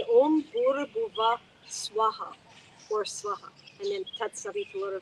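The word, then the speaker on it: स्वाहा: They will say Om Buhr Bhuva Swaha or Swaha, and then tat-savitur, vareynyam, etc. Yeah, no. For purposes of this fire homa, swaha, 3 separate equal syllables.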